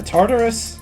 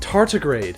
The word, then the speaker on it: tardigrade: Is that a Tartarus? No, it's pronounced tardigrade. You have to stop pronouncing things wrong.